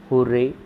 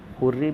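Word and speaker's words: hurray: इस वर्ड को हुर्रे भी कहते हैं, हुर्रा भी इसका प्रोनाउंसिएशन रहता है, इस बात का ध्यान रखिएगा।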